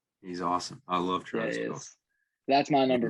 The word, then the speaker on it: Kelce: It's not Kelsey. It's Kelce. It's Kelce. He said it. He said it himself to pronounce it Kelce.